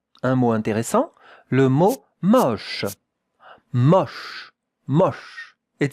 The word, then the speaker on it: moche: That 2 letters make the sound sh. Sh. Regardez la prononciation. Moche. It's not moche. No, it's moche. More open, the O. Moche.